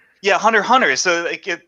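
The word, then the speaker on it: Hunter × Hunter: heard people yeah it's hunter hunter yeah hunter hunter so they get the x is silent it's like you're not supposed to say it yeah it's like an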